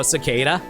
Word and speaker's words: cicada: I just always pronounce it as Nincada. Because, like, you know, cicada.